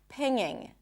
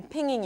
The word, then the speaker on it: pinging: For example, ping, pinging. I'm pinging you right now. Pinging, nging, nging. I know it sounds funny. It's not pinging. There is no G. Pinging.